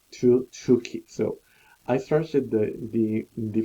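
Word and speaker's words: Tukey: So mostly we use, so it depends on the textbook, but we usually have the two key, not turkey or turkey or two key, but it's two key.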